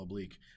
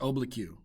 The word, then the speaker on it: oblique: know how to spell oblique it's not pronounced oblique okay it's oblique excellent so here i